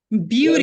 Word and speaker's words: beauty: Beauty. Olha como é que a gente fala essa palavra aqui, ó? 2 sílabas.